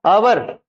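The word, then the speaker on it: hour: ए और यहां पर आवर यहां पर एच है साइलेंट तो क्या बोलते आवर आवर आवर तो यहां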